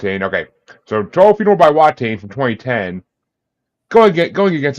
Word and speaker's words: Watain: this but Wain why I don't know how pronounce that yeah it's wat wat okay so to funeral by watain from 2010 going going against a song that